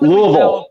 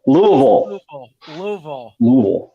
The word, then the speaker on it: Louisville: Well, I would have to say I learned how to pronounce Louisville. That's thanks to Bart. It's not Louisville. Louisville.